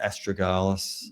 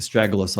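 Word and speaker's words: astragalus: jins singh perhaps or ramania astrogalas um the stragalus I should say in the American pronunciation.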